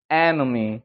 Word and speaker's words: enemy: 에네미가 아니고 enemy. 그러니까 앞에 올라갔다가 뒤에 죽어버리는 거죠.